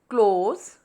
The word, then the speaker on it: close: meaning of this close is to shut and it rhymes with the word toes close toes close toes and in the next sentence